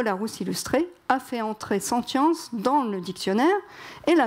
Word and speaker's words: sentience: Donc c'est très bien d'utiliser ce mot sentience qui se prononce sentience et non sans science.